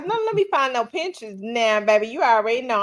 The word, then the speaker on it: Pinterest: on that Pinterest okay my mama call it pin interest oh she put some extra Val syllables in there pin interest yeah P interest yeah